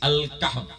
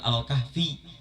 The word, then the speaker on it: Al-Kahf: Al-Kahf ya, dibacanya bukan Al-Kahfi karena nggak ada huruf ya di akhir, tapi Al-Kahf.